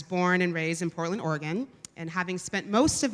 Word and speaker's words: Oregon: of Portland, Oregon, which, by the way, is pronounced Oregon, not Oregon.